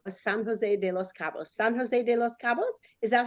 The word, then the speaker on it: San José del Cabo: San José de los Cabos? Is that how you pronounce it? That's correct. San José del Cabo.